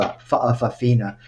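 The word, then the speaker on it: fa'afafine: biological males called faaa It's pronounced with a gloal Stu faaa and the fa Aina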